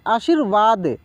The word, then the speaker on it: आशीर्वाद: लोग बोलेंगे और उसे रा को तेजी में बोलेंगे कैसे बोलेंगे तेजी में फास्टली बोलेंगे ठीक है ना आशीर्वाद आशीर्वाद लगा हुआ है उसका उच्चारण पूर्ण रूप से हो लेकिन उसके पहले थोड़ी सी उच्चारण हो यानी हल्की उच्चारण हो आधा है इसलिए ठीक है जैसे परमार्थ